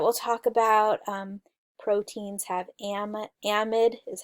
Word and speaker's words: amide: um others that will talk about proteins have amide is how you pronounce it amide groups um a nitrogen containing